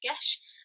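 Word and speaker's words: Geis: this one is pronounced yesh because it is a Gaelic word it says in the front that you pronounce it gesh and this is yes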